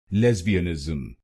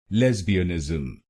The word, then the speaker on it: lesbianism: the correct pronunciation of this word its correct pronunciation is lesbianism lesbianism this word has five syllables say the first